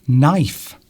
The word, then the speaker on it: knife: Knife.